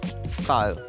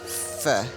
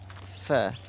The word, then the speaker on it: pho: to say it now I've been calling it faux and it's actually pronounced fur and I have been practicing and practicing I've got a way to go but let's try it again for fur fur so this is